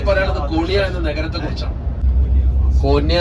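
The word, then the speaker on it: Konya: കോന്യ എന്ന് പറഞ്ഞ തുർക്കി ഉച്ചാരണമാണ്.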